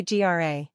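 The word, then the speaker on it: grá: say Gra this word means love it is pronounced gra it also rhymes with the English word Raw this word is sometimes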